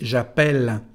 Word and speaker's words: appelle: Bueno, cambian el sonido de la letra E. En vez de decir E, se transforma en E. El sonido es E. Por eso se dice j'appelle.